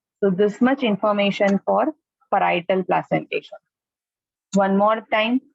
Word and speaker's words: parietal: PAR parietal, parietal जी ऐसे बोलो parietal, parietal spelling नहीं बोलो parietal, right?